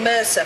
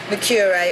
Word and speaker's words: Mercer: We might say Mercer for the surname, but it's pronounced Mercure or Mercure.